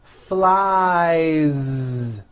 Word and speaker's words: flies: Sho Two Shoes next is the verb fly which ends in the vowel sound I so you've got I fly he flies keep that ending voice flies the last sound you